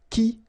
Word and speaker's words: qui: So the idea is that this combination of Q and U together will give you the sound K, okay? So that's the reason why you get qui like that, qui, quitter, all right?